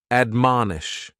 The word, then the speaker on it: admonish: And admonish has three syllables and the stress is on that second syllable. Man, admonish.